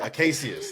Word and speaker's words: Acacius: right I got it right acacius that's how you say his nameus is Pedro